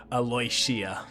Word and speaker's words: Aloia: like alaisha yeah uh so actually they did do a uh pronunciation guide in the nether deep and she is the first one on the list aloia oh nice aloia aloia